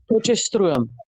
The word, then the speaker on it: Potchefstroom: I Okay, can I I'm going to pronounce this in Afrikaans so maybe you will understand. It's Potchefstroom. It's Pot like p o t chef s c h e f s t and then it's stroom s t r double o m.